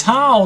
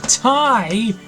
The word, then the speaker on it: Tal: It's Tal, not Tai.